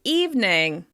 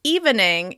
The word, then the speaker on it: evening: Let's talk about the word evening. Evening. Even though the word looks like it should be pronounced evening, it's now pronounced evening. Evening. Over time, we've dropped that second syllable and it's just 2 syllables.